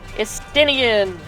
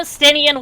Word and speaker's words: Estinian: Estinian. Estidian. Remember, it's French. Estidian. If they look Elven, the name is painfully French.